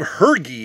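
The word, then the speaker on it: Hergé: And I believe Hergy is the way you pronounce that.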